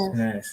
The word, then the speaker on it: Sanaz: and I wanted to ask if this is a correct pronunciation as well from Sanaz. Like Professor. Yes. Sanaz, yes.